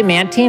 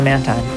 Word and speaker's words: Mantine: 90 different times yeah i used to say man teen until i got into pokemon community and now i say man time everyone else does shout outs the pokemon